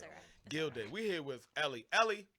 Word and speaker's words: Guilday: Oh, pronounce it Guilday.